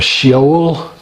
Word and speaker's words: Sheol: stars, and there's a Sheol. I know that's the correct pronunciation. I believe that's Hebrew.